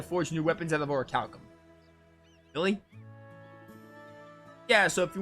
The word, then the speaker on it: Orichalcum: seeing an h after the p but there was no h okay with or calcum in hand add on the others returned to castaway village all right so it's actually not that hard to pronounce it turns out i just thought i saw an h ability to defend themselves